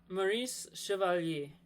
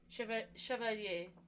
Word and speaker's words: Maurice Chevalier: Maurice Chevalier. Chevalier.